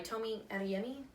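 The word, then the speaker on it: Tomi Adeyemi: one is children a virtue and vengeance by Tomi and yummy alright that's how you say it the first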